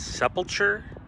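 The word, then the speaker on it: Sepulcher: But so this cemetery is the Holy, I believe it's pronounced Sepulchre, S-E-P-U-L-C-H-E, or Sepul, yes, I believe Sepulchre Cemetery, out in Orange, kind of off the 241, off Chapman between Catella.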